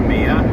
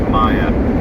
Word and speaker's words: Monkey Mia: If you're wondering why I keep saying Monkey Maya instead of Mia, it's because it's an Aboriginal word and it's pronounced Maya, which is a meeting place.